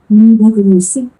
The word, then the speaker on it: Liebe Grüße: এলজি মানে এর উচ্চারণটা আমরা একটু দেখি। LG. Liebe Grüße.